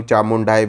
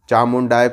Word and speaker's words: चामुंडाय: चामुंडाय को आप चामुंडे बोल रहे हो या फिर कुछ और बोल रहे हो, चामुंडाय, इस प्रकार से मंत्र